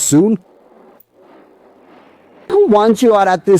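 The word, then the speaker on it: ศูนย์: It's spelled with the Thai letters Sosala, Sarayu, Nonu, and Yoyakaran, pronounced Soon.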